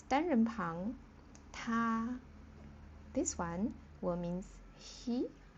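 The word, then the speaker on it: 他: Like he, she, it, all the pronunciation is ta, but it's just the way we write it. If it's dan ren pang, ta, this one will means he or him.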